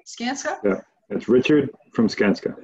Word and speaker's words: Skanska: um robert is the ceo of if i pronounce it right sanska is that right skanska yeah that's richard from skanska richard from richard